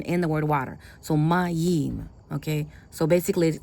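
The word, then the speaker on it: מים: So how do you pronounce this word? It's not um meim. It's maim because the word water comes from the word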